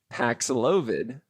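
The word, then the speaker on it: Paxlovid: because the Dr the commercial for the drug paxilovid did I say it right yes pack slogan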